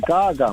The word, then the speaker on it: Gaga: I I genuinely thought that was how it's pronounced. Lady Gaga. No, that is Gaga, mate.